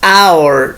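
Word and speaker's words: hour: The spelling is with H, but the sound is our, so the sound is in vowel.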